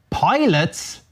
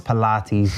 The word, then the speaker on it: Pilates: Nah, I know it's Pilates. Jesus, all right, Jesus, I knew that. Right? If you thought I couldn't pronounce Pilates. Although it should be called pilots, the way it's written.